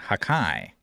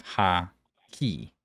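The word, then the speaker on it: Haki: Broken, you mispronounced the word hockey, saying hakai instead of ha-ki.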